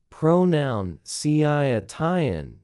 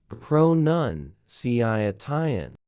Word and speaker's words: pronunciation: Most learners say pronoun because they connect it to the word pronounce, but the correct form is pronunciation. No oun, just un.